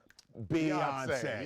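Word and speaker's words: Beyoncé: Album of the Year, rhymes with fiance. Beyonce.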